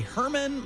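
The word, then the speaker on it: Germán: He faces Ratty Herman Marquez. It's spelled German.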